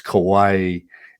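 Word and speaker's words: Kauaʻi: okay let's a few in hawaiian we pronounce every single syllable so it's kaho alavi it's lanai it's kawaii and molokai but you did very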